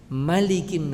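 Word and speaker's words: ملك: Di surat An-Nas, qul a'udzu birabbin nas, malikin nas. Ma-nya pendek, tidak boleh 2 harokat.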